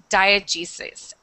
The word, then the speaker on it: diegesis: Okay, this next one, this word is pronounced diegesis.